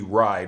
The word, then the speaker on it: Rai: Some people think it's Ray, but it's actually Rai. That's how it's pronounced by Jim Shooter, who created the character.